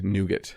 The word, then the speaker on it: nougat: Nougat is the American pronunciation.